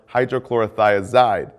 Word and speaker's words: hydrochlorothiazide: Potassium wasting ends in "-ide," like furosemide or hydrochlorothiazide. Both rhyme with dried.